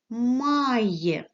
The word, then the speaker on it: my: наступне слово має має буква y стоїть одна тому читається як i My і пишемо я моє